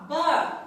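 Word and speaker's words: bar: কিন্তু এই আর এর উচ্চারণটা আমরা কি আর র কি আসবে উচ্চারণে? আসবে না। এখানে উচ্চারণটা কি হবে? আ এর মতো হবে।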